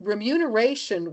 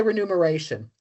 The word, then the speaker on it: remuneration: And they we found that remuneration was listed there was a study conducted by